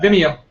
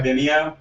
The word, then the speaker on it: Vimeo: Vimeo. Yeah. Vimeo.